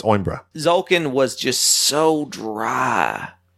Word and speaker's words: Coimbra: The C is silent. It's Oimbra.